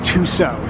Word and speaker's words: Tussaud: I looked it up before I came today, and the proper French pronunciation is Tuso. So, we're going to Louie Tuso's Wax Museum.